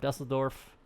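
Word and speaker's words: Düsseldorf: over the top of dusseldorf that's how you actually pronounce it over cologne and then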